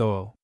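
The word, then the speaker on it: août: 8 pronounced OO.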